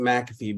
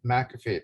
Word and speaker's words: McAfee: It looks like it should be McAfee, but we pronounce it McAfee because I guess that's the way it was. Okay. Well, that's fine. McAfee, Tim McAfee from Pioneer Broadband.